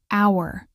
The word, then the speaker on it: hour: Take the word hour. It starts with the letter H, which is a consonant. But listen. Hour. The H is silent. The first sound you hear is ow, which is a vowel sound.